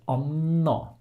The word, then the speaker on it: Anna: For example, we would say anna. Okay, we have a long N. Since we write the double N, the A before will be short, but the first syllable is stressed, so we just elongate the N.